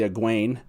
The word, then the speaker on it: Egwene: For the purposes of this, Egwene, it's spelled E-G-U-E-N-E, it's obviously Egwene, and Elyn, E-L-Y-N, is clearly meant to be Elaine.